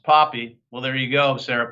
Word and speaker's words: Pape: Sarah Pape, pronounced Poppy.